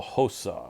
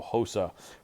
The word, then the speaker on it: Rosa: wrong that's a close close fight uh carol hosa rosa except in portuguese the hours and h pronounced as an h so hosa versus sarah mcmahon i'm going to go for